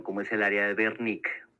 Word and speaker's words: Wernicke: es el área de Wernicke, o Wernicke, porque es alemán, no Wernicke, Wernicke. En Alemania la W se pronuncia como una B, no como W.